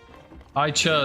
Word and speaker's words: Aicha: Aicha is how you say it.